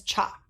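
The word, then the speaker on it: 茶: speaking mandarin and cantonese who pronounce this character as cha which is where today we get chai but other traders learned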